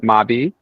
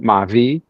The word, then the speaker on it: mabi: So in Haiti, we call it Mabi. In the Dominican Republic, they call it Mavi. Mm. And South Caribbean, we call it Morbi, right?